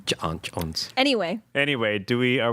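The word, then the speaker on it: J'onn J'onzz: been John Jones yeah there's apostrophes ignore those alright well of course it is John Jones anyway anyway do we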